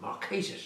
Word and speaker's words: Marquesas: I remember it, Key West on the Marquesas, or Marquesas as it should be pronounced.